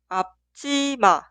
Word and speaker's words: 앞치마: Y la palabra entera suena 앞치마, 앞치마, 앞치마.